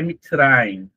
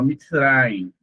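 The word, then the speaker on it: מצרים: E a letra men aqui para nós vai ser egípcio, mas lá é mitrain. É como se fala, ó, mitrain, então é como se fala Egito, né?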